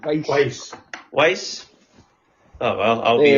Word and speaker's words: Weisz: Rachel Weisz? Weisz? It's Weiss.